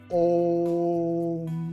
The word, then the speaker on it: ओम: ओम मतलब father energy ओ को छोटा करके मां को बड़ा करेगा जैसे वो करेगा ओम तो ये उससे क्या